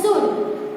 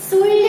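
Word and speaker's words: should: कुड, वुड, शुड, तो यहाँ पे COULD, कुल्ड नहीं होगा, शुल्ड नहीं होगा। यहाँ पे दोनों में जो L है वो साइलेंट है, यानी कि क्या होगा, कुड, क्या होगा, कुड, इसका होगा शुड। इसमें भी L है वो साइलेंट है, इसका हमें साउंड नहीं निकालना है, ओके।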